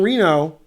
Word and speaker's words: Reno: the end you're 21 Reno rhymes with casino is it GM Larry